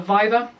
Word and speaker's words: viva: i'll defend my thesis also called a viva or some people pronounce it viva depending on your latin pronunciation and um that will